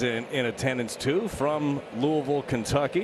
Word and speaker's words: Louisville: It's not Lewisville. Correct. You have to get a little guttural with it. Louisville. Louisville.